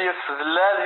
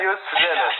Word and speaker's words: يوسف زلال: اوكي، كتصحيح المتابعين، ماشي يوسف زلال، يوسف زلال.